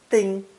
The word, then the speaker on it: 叮: Pronounced first tone. Ding, ding. It means literally to use